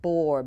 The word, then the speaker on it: Boer: are meat goats and it's spelled bore b o e r bore goats they originated in